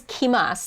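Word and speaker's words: kimasu: So basically, you drop the ru, add a te, and then change the first syllable from ku to ki. But just remember in your brain that it is kimas.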